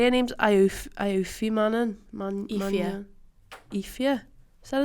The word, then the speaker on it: Aoife: It's not how it looks, but that's no, that's it. Ifia. Pronounce it how you see it, but that's not how you see it.